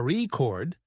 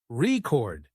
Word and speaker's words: record: For example, in the word record, if you stress the first syllable, a record, it's a noun. But if you stress the second syllable, record, it's a verb practicing stress and intonation makes you sound more natural.